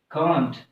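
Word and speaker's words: can't: So British में इसको क्या प्रोनाउंस करते हैं, कांट, क्या प्रोनाउंस करते हैं इसको, कांट, ठीक है, कांट। और इसको अमेरिकन में क्या यानी प्रोनाउंस करते हैं, कैंट यूज करते हैं इसको, इसको क्या पढ़ा जाता है, कैंट।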